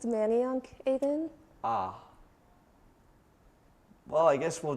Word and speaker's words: Manayunk: that's located right in the heart of It's pronounced Manayunk, Aiden.